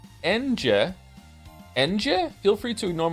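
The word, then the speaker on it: Ange: I'm here to tell you her name is pronounced Enje.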